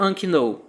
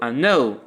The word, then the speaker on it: unknown: Você percebe que aqui a letra K ela não se pronuncia, certo? Eu não vou dizer unknown, eu digo unknown.